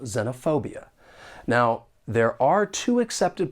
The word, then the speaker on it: xenophobia: don't really match up the word has five syllables and the stress is on the third syllable xenophobia now there are two accepted